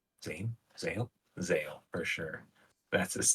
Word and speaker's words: Zale: I mean, one of them is Vale, not Vale, Zale, Zane, Zale, Zale for sure.